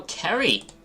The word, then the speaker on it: Kerry: It's pronounced Carrie, like a K. Oh, Kerry.